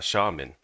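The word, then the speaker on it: Xiamen: uh in China there's a city uh that I want would like to you know visit and that city is uh shaman I think you pronounce it.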